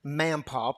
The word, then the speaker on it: Mampaw: Well, that night I got a phone call from Jake Mampaw, pronounced like Grandpa, except with an M, because that's how he introduced himself.